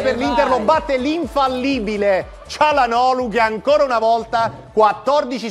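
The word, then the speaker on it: Çalhanoğlu: rimasta ancora a questo calan olu dove la g non si pronuncia ho scoperto adesso Doo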